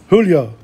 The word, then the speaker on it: julio: You don't pronounce the J. Julio, agosto, septiembre, octubre, noviembre, diciembre.